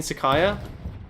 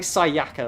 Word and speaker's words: Sayaka: I know it's like Sayaka or whatever, but at this point I've been mispronouncing it so long that, like, if I do it normally, it just sounds weird, okay?